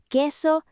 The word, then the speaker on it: que: And remember que en Spanish, la U and Q is not pronounced. Así que we say que and que softly.